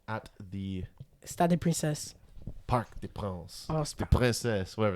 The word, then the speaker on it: Parc des Princes: Yeah, Stade de France, Parc des Princes. That's the one. S is silent. Parc des Princes.